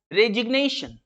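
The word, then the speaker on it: resignation: जैसे रिजाइन word है, रिजाइन, रिजाइन, लेकिन अगर इसके ATI-1 लग रहा है तो ये हो जाएगा रेजिग्नेशन, रेजिग्नेशन, ग की साउंड आपको सुन रही है, रेजिग्नेशन, रिजाइन, रेजिग्नेशन, रिजाइन, रेजिग्नेशन।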